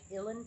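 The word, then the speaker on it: uilleann: it looks like many these are the irish ellen pipes it's spelled u-i-l-l-e-a-n-n and it literally means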